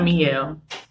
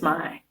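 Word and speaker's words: Mielle: for first and foremost I was always saying this name wrong it's not me you it's mine so here's my miles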